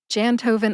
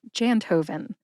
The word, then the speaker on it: Jantoven: Jantoven also has 3 syllables. Jan, like the month of January, Jan. Tow, like a tow truck, and then, like the number 11. Put all 3 syllables together and you get Jantoven. Emphasize Jan. Listen to that emphasis when I say it again.